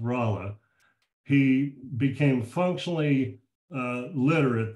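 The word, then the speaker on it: Rolla: moved to the Western frontier around what's called rala Missouri it's spelled r o l l a but it's pronounced rala he became functionally uh literate there I don't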